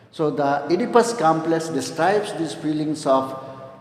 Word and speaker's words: Oedipus: father okay this type of complex we call idipus this type of complexes complex the spelling is silent so the Oedipus complex describes these feelings of wanting to possess